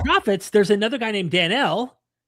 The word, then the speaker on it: Daniel: by the way places Daniel, not Daniel like we always pronounce it, but Danielle, Daniel is also listed along with Enoch and Noah.